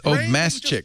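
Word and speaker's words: Obmascik: Look, I'm telling you, don't try to pronounce it like Obama, but it is Obama. It's not Obama. It's Obmasick.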